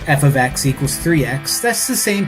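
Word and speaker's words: f(x): For whatever reason, when people invented math, they decided to have this thing called function notation, which is pronounced or rather said as f of x.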